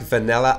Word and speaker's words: vanilla: Ça serait do you like vanilla ice cream? Regardez comment on prononce vanille. Vanilla. Encore une fois, ce I court est presque un E accent aigu.